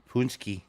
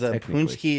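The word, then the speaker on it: pączki: holiday of paxi day I don't know how you pronounce it really have AO of it punski it's pronounced punki punki it's also the day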